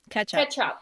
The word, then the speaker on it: Ketshop: And the name, ketchup. Ketchup is it's spelled KETSHOP. So it's kind of like ketchup, the food.